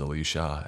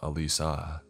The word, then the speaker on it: Alisa: understood alisha my nodded she had mispronounced my name as alisha instead of alisa but i didn't correct